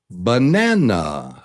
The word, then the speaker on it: banana: And do you hear how the and the middle syllable, syllable number two is the top is the stressed syllable.